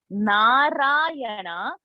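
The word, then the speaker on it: नारायण: vertical line no so in narayana the first na narayanas na is this we start like this na so this differentiation in pronunciation should come so that's the best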